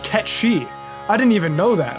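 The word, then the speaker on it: Cait Sith: pronounced how it's spelled kate sith his name is actually scottish gaelic and is pronounced ketchy i didn't even know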